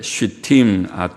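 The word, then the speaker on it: שִׁטִּים: 법궤 만들 때 조각목은 아쉐, 쉬팀, 아체, 쉬팀.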